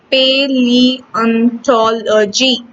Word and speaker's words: paleontology: A very special branch of science called paleontology, pronounced paleontology.